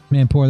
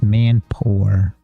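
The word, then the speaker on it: mampoer: top wck and poor it's spelled m a m p o e r which I probably don't pronounce correctly and sunny you probably do because unfortunately my American accent isn't always correct I try to say it right I think it's Man Poor but I'm sure I'm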